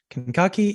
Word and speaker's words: Kankakee: Literally, that's how you say it. Kankakee, Illinois.